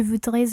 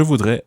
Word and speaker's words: voudrais: Je voudrais louer une voiture. Okay, in this one, you wouldn't pronounce the S of je voudrais because it's not followed by a vowel.